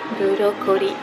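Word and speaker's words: ブロッコリー: Okay, Zoe, I bought you the broccoli washi tape, and I even asked the cashier how to say it in Japanese. And guess what it is? Burokori.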